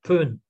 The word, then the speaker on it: Bon: des Tibétains qu'on appelle la religion Pön, mais qui s'écrit Bon, B-O-N, et qui est une religion chamanesque.